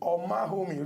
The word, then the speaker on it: Omaghomi: His name now Prince Omahomi. Remember, the G is silent.